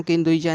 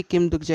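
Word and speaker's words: 김독자: बोलने लगता है अरे मेरा नाम किम दुजा नहीं बल्कि किम दुगजा है तुम मेरे नाम का गलत प्रोनाउंस कर रहे हो और आगे हम देख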